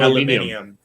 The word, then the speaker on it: aluminium: how how to pron how do the British pronounce aluminum u it's alum aluminium alum aluminium which actually makes a